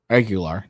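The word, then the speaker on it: Aguilar: 208 to 213 vote but Al algera agilar agular that's that's how you pronounce it also was quick to condemn to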